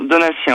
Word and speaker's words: Donatien: On dit Donatien ou Donatien? Donatien, hein, c'est bien ça. Donatien, j'ai jamais entendu. Donatello. Vous habitez Vincennes, en tout cas, Donatien ou Sien. Non, Donatien, on prononce.